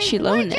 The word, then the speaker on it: Xilonen: So we'll finally get to meet Xilonen, the legendary Xilonen, forger of that's how you say it.